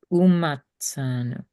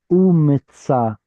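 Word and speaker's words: ומצאנו: So see how this has the stress right here? Umitzanu versus umatzanu. That subtle difference is the difference between he found or he will find us versus we found.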